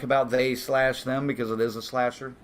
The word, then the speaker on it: They/Them: pronounce it like that it is called they slash them not just they them so it was a